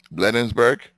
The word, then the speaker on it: Bladensburg: Spell it. PLA. Oh, it's B as in boy. Okay. BLADEN. Bladensburg?